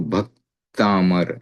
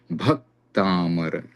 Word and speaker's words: भक्तामर: तो भक्तामर ऐसे बोलेंगे तो भ पे थोड़ा जोर पड़ता है क्योंकि क और त आगे संयुक्त है। भक्तामर इस प्रकार से उच्चारण किया जाता है। भ पर जोर दिया जाता है क्योंकि भ की गुरु संज्ञा हो जाती है।